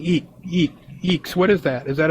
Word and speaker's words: IAX: because i did i did the sip and eeks and stuff way way back and they always said that that's how you pronounce is that's funny about you know that's